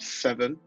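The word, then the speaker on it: SVN: Six, and it's a girl band called Seven. It's spelled SBN. They've dropped the vowels, and it's really fun and fresh, unique, fun, cool.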